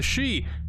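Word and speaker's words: し: nine in Japanese however both for and the word death are both pronounced a she which is part of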